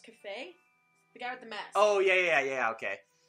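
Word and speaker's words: Kafei: If I remember right, it's pronounced Cafe.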